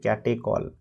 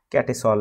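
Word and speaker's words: catechol: এটার অন্য নাম হচ্ছে ক্যাটেকল বা ক্যাটেসল যাই বলে যেভাবে উচ্চারণ করো তুমি এরপরে দেখো এখানে তিন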